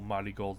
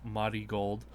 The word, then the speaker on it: Marigold: mody gold thing um apparently it is pronounced myy gold uh which I guess I probably should have figured that out because that's how you would pronounce it in you know the Japanese lexicon um but just a